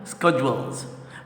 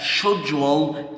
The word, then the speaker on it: schedule: Scheduling, schedules. By the way, this word is called or is pronounced as schedule in the French English and schedule in the American English.